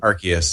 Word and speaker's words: Arceus: Yeah, some I of still the don't know how to pronounce that. legendaries. Is Arceus or Arceus or what? Arceus.